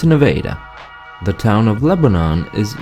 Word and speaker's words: Nevada: french palace its Versailles how about the town of Nevada that's named I've said the other one that's right there in America right the Missourians pronounce it Nevada no it's Nevada the town of Lebanon